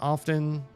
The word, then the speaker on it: often: It took me literally until like maybe this year or last year to realize that you don't pronounce the T in that word often.